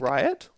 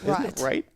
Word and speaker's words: Wright: Did you say Riot? Right. Isn't it right? It's pronounced right, but yeah.